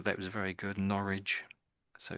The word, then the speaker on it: Norwich: Your pronunciation that was very good. Norwich.